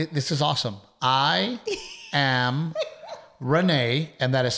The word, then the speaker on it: Renae: I am Renae, and that is spelled R-E-N-A-E with an A. I am Renae. With an A, because that's easy to follow.